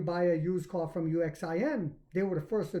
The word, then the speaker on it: Uxin: talking about no other than none other than UXIN pronounced Ushin.